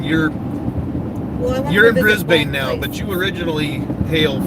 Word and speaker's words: Brisbane: Sorry, it's not Brisbane. That's only what dumb Americans say. What's it Brisbane? Brisbane that I need to see.